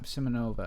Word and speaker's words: Simonova: Simonova. Wow. Really nailed it. How about just Simon Nova? Simonova.